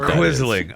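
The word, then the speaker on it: quisling: Is that like a quizzling?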